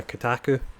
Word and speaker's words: Kotaku: Yeah, it was the Kotaku.